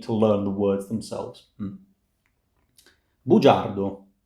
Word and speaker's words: bugiardo: Bugiardo, bugiardi. G followed by a E gives J. Again, G followed by a front vowel gives us J.